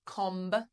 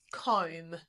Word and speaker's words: comb: Okay, we don't say com. It's silent comb. Comb. It sounds like comb.